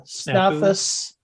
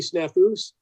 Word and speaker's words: Snafus: it's supposed to be snafus okay because it's supposed to be plural but it's a made-up